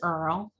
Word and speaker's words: Earle: My last name is Earl. It has a silent E on it.